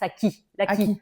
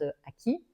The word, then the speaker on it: AKCI: Alors, en fait, on prononce ça AKCI, ça veut dire l'académie du coach immobilier, mais on prononce à qui ? comme acquisition de de connaissance ou de compéten parce que en fait